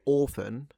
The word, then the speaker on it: often: In fact, the queen herself used to say often. She didn't pronounce the T though. So, the queen would say often.